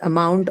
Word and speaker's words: amount: Understand why we mark the stress for the word amount on the second syllable, although it is a noun. Okay. Ideally, it should be first, but we mark on the second because of the presence of the unstressed vowel.